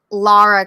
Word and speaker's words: Lara: Lara Croft, not Laura.